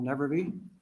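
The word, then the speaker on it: Nevrivy: problems good afternoon Senators my name is nevervey it's spelled m-i-c-h-a-e-l-n-e-v-r-i-v-y I'm here today to testify and support that lb 232.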